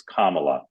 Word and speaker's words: Kamala: All right, I'm going to turn you over to my colleagues, but first, as always, friendly reminder, it's Kamala, like the punctuation mark, Kamala.